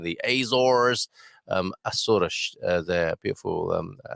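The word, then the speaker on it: Açores: she's saying hi from these asuras there's the right pronunciation i'm saying people are saying the azores um there beautiful um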